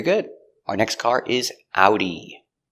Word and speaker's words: Audi: We pronounce it with the German pronunciation similar to German. Audi. Let's take a closer look at the pronunciation pronunciation of Audi. Ow. Ow. Remember the sound is two sounds. It's a like apple and oo like boot.